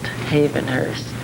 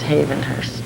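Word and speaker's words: Hayvenhurst: is the way you pronounced Havenhurse is Havenhurst. You said Havenhurse.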